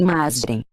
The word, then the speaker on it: Matrem: A palavra perdida dos magos negros escreve-se Matrem e pronuncia-se Masrem.